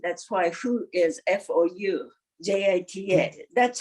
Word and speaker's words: Foujita: Actually, you know, in Japanese, Fujita, but he spells like French way. That's why Fu is Foujita. That's how he is known. Now, can you say it in Japanese? Fujita.